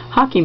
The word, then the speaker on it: Hake: brown paint and a hockey brush, which is a brush like this, and some of you may know it as a Hake brush. It's spelled H-A-K-E, but it's a hockey brush.